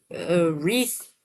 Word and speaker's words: wreath: Uh, wreath has a silent letter. Silent W, I should say. Specifically, sword as well. Rap. Play right. So, those are silent W's.